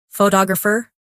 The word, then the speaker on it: photographer: In English, some words are pronounced with extra emphasis on one part. For example, photograph, photographer, and photographic. The stress moves, and that changes the sound.